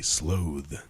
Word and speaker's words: sloth: very it's very slow in British English it's pronounced a slowe is it really yeah